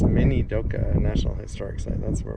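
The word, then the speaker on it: Minidoka: grew here at the internment camp oh it's minoka National Historic Site that's where we are said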